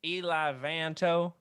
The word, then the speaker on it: Eli Vanto: Do you mean Eli Vanto? Eli Vanto. That's the way he's pronounced in the audiobooks.